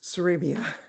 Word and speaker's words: Sarabia: Uh we have one more hand that is raised and that's Uh forgive me, Sarabia. I If I mispronounced your name, I apologize. Uh close, Sarabia.